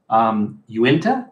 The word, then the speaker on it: Uinta: So Uinta or Uinta, I don't know how it's pronounced. Uinta, I believe.